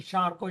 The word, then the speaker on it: Charcot: So Father Abbe Faria, and then we come across another person by name Jean-Martin Charcot, Jean, Jean, Martin, Martin, and Charcot, Charcot. Charcot, Charcot in French pronunciation.